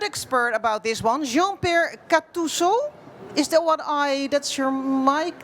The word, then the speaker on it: Gattuso: What's the right name to pronounce? GATTUSO.